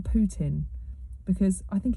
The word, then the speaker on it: Putin: I've heard people pronounce it Putin, and some people call it Putin. I'm going to call him Putin because I think it's suitable that his name is Putin.